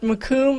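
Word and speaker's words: Macomb: Um I actually, you may know the story a lot better from coming from Keith, but it's pronounced makum as in tomb.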